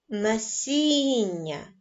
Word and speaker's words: насіння: на склади насіння визначте наголошений склад насіння наголошеним буде другий склад пропоную продовжити нашу гру